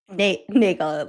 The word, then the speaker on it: Nagel: Nagel. Rhymes with bagel.